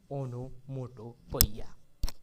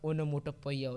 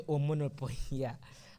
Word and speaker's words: onomatopoeia: But you should follow my guidance, that go and practice the pronunciation of onomatopoeia. You will say, otherwise you will say omonopoeia.